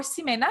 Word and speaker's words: Ximena: here finally so yeah my name is Tina or Samina you can spell it very both ways so say both ways I'm actually from Colombia